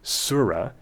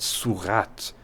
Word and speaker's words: surah: In the word surah, that attached ta gives away the gender, but make a note that ta isn't pronounced when the word is on its own like this.